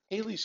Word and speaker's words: Halley: 1758, and this is called Halley's Comet, or as some people pronounce it, Halley's Comet.